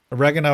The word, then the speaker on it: oregano: Oregano? Wait, why did I say it like that? Oregano? Oregano, I think is that the, that's like the American way of saying it.